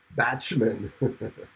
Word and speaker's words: Bachman: really keyboard Chronicles Randy is lying it's actually pronounced batshman okay Ryan investigation is no Merc no Grand